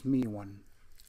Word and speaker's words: mu: You say mu1, the proper pronunciation I've been told is mi1.